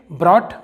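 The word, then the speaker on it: brought: तो यहाँ पर दोस्तों GH इन सभी जगह पर साइलेंट है। चलिए दोस्तों और एग्जांपल देखते हैं इसके, ब्रॉट।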